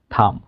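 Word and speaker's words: thumb: যেমন শব্দের শেষে যদি এম এবং বি থাকে এম এবং বি এম এবং বি তাহলে এই শেষের বি এইটা থাইল্যান্ড থাকে। যেমন ল্যাম কম থাম বোম ডাম ল্যাম মানে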